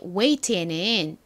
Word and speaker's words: wait: w a i t라는 철자를 씁니다 기다리라는 의미의 웨이트에 gh 들어가 있지 않아요 그리고 이중모음 AI 쓴다는